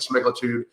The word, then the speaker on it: semaglutide: And the reason for this is that there is a black box warning on semaglutide.